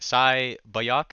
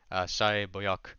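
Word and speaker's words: 새벽: I think it's pronounced like Sai Bayok.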